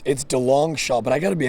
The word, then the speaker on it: DeLongchamps: Yeah, it's DeLongchamps, but I got to be honest with you.